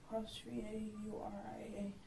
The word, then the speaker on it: D'Auria: DAURIA. How do you pronounce that?